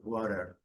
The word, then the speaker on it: water: E aqui é o water, ok? É um pouquinho diferente. Para falar água em inglês britânico é um pouquinho diferente. Water. Letra R não é pronunciada.